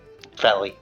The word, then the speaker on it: Felly: Is it Feely or Feli? Felly.